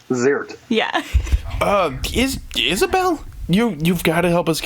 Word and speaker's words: Zierdt: How do you pronounce Verna's last name? Ziirdt. Ziirdt.